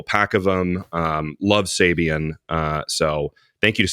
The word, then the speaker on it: Sabian: get a whole pack of them um love Sabian uh so thank you to Sabian for sending this I love the symbols and thanks for sponsoring it and um Sabian that's how you pronounce it it's Sabian guys yeah and Andy zilan is one of